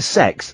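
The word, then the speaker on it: CeX: Then we went to Sex. That's how you pronounce Computer Exchange.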